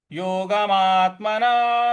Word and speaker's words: योगमात्मना: योगमात्मना विशुद्धये। यहाँ मात के ऊपर आघात देंगे, फिर विशुद्ध शुद्ध यहां पर हम आघात देंगे, बल लगाएंगे।